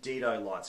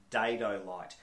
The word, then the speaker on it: Dedolight: an apology to everyone who watches this who pronounces the name correctly in Australia we call them Dido lights because that's how it's built de do but